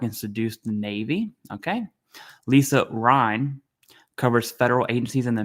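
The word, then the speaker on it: Lisa Rein: And then we have Lisa Rhine. That's how you pronounce her name. In case anyone's curious, it's Lisa Rhine, like the river.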